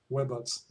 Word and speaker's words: Webots: Actually, historically, the idea was to create a web of robot simulation connected on the internet. So it's more like Webots.